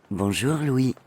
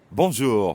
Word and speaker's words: bonjour: in english in fact the n isn't really pronounced at all instead practice saying o